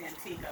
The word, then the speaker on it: Antigua: We say Antigua by force of habit, but really it's pronounced Antigua.